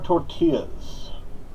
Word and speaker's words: tortilla: Now, today what I'm making for you, flour tortillas. It is pronounced tortilla, not...